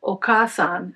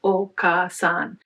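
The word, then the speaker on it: お母さん: We won't go into detailed comparative linguistics today, but the word okasan has 3 syllables, okasan. It's not normally transcribed with an H, but I've put it there to show you that the vowel is lengthened.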